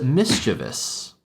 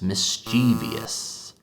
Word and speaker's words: mischievous: but the word is mischievous. Mischievous. And I don't know when this started happening, but for a very long time, native speakers have been mispronouncing this word as mischievous.